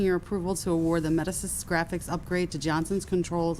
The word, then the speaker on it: Medisys: Is that pronounced Medisys? Medisys, correct. Sounds like Greek mythology.